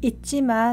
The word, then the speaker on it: 있지마: 발음은 it 아래에 있는 지읒은 받침일 때 디귿 발음이 나고요. 뒤에 있는 지는 상지읒이 되어서 있지마라고 발음합니다.